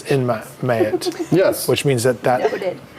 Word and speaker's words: Ma'at: It's pronunciation is Mayat according to my sources.